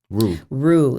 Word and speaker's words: Rue: I spell it R-U-E, and a roux, which is like the base of most Creole sauces, is spelled R-O-U-X. So it sounds the same, but it's not spelled the same.